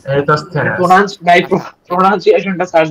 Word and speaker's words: Eratosthenes: সিভ অফ ভাই এটা এরাটোস্থেনেস। Eratosthenes. Pronounce ভাই আচ্ছা প্রনাউন্সিয়েশনটা সার্চ দেন। হ্যাঁ দিছি, সি অফ এরাটোস্থেনেস, হ্যাঁ।